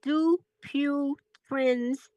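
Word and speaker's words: Dupuytren's: On the fascia, yeah, it's called it's called do pure friends contractions. D. Okay. Spell. Go ahead and spell it.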